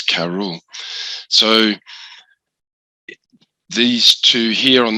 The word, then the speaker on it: Cerball: i was saying but now thanks to ryan i pronounce it correctly and that that's karul so these two here